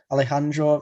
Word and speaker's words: Alejandro: So I think Alejandro, that's how you pronounce it, Pantoja, I think he'll be next.